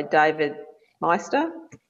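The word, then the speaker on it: David Maister: helped you the most um trusted advisor by David Meister that's how you pronounce it that's a great book it's a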